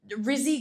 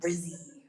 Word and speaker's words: rizz: So I asked him, like, hey, can you tell me about the Rizzy guy that you're always talking about? And he got really upset. Oh, you're saying it wrong. It's Riz, not Rizzy.